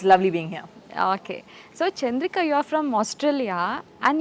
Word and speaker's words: Chandrika: Is it Chandrika?" I'm like, "No, it's Chandrika. You have to say it properly. It's Chandrika."